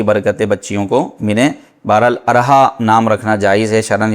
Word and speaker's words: ارحاء: نے فرمایا کہ بھائی ارحا نام کا معنی بتا دیں، ارحا نام رکھنا کیسا ہے؟ تو ارحا کا صحیح تلفظ سن لیجئے، یہ ارحا ہے، ارحا الف کے زبر کے ساتھ، تو اس کو ارحا